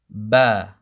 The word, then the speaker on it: ب: to repeat after me bah bah bah bah bah and back comes from the two lips closing together and when you once you release it makes the sound bah bah and this is